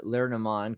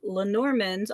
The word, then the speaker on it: Lenormand: Yeah, I'm very excited about the Lenormand, because like I know nothing about the Lennies, and the most I know is there's 36 cards.